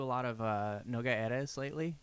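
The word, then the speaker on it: Erez: lot of uh noga eras lately i think i'm pronouncing it right it's like e-r-e-z okay uh they're from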